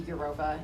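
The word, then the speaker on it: Evropa: They're from a white nationalist group called, I assume it's pronounced Identity Eurova, even in spite of the V. The V is sort of a classics term because it's the U in Latin.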